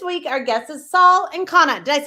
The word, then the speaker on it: Ancona: This week, our guest is Saul and Connor. Did I say your last name correct? Saul Anona.